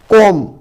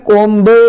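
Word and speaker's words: comb: फिर आपका कोम, कोम में कोम्ब नहीं पढ़ रहे हैं, बी नहीं पढ़ रहे हैं, केवल कोम पढ़ रहे हैं।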